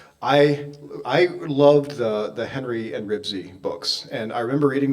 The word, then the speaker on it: Ribsy: And I loved the Henry and Ribsy books. And I remember reading them in 2nd grade. And I remember Dwayne Kress pronouncing it Risby. He just always said Henry and Risby, and I will always remember Dwayne Kress for that.